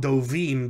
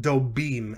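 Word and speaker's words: דֻּבִּים: singular bear becomes dobim notice i said not dovim but dobim and that's because when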